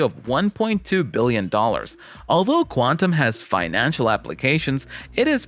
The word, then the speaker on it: Qtum: with actual long-term appeal qtum q tum pronounced quantum is the third and